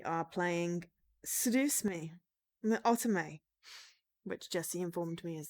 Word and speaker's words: Otome: We are playing Seduce Me, the Otome, which Jessie informed me is the correct way to pronounce this.